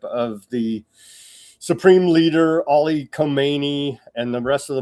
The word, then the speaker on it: Khamenei: It's by the way, Khamenei. The way everybody says it is like the other guy, the one before him was Khomeini. So it's a little slightly different pronunciation.